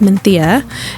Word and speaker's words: Mencía: Menthia, uh, it's spelled Mensia, but pronounced Menthia.